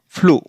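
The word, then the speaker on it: flew: ई डब्ल्यू एफ एल ई डब्ल्यू फ्लो।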